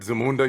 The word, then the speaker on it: Zamunda: Like, just saying the word Zamunda, you don't say it like Zamunda. You say Zamunda.